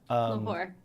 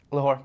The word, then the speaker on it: Lahore: So the Nihang are a unique unit from the Lahore, if I'm pronouncing that right. Lahore. Lahore, thank you.